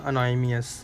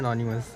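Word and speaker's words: anonymous: पता गैस मुझे खुद नहीं आता था बोलना, जब मैं अनोनिमस नाम रखा था ना, मैं उसको बोलता था अनोनिमियस, और मुझे नहीं पता था इसको प्रोनाउंस करते हैं अनोनिमस, और मेरे को बाद में आया लॉल।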